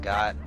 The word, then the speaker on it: Goht: Alright, so as that title said, we are now up against the mass mechanical monster, Goht, or Goat. I pronounce it Goht.